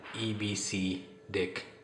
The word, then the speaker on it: EBCDIC: will talk about ebcdic code and it is pronounced as EB C dick code and the abbreviation stands for extended binary